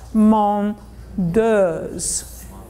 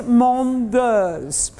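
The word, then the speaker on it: Mondeuse: is to teach all of you Americans to pronounce mom ders okay so mongers from our bow okay so it is mom ders so we have to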